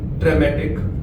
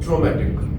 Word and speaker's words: traumatic: And then there was one more word which was being mispronounced, was traumatic. It should have been traumatic.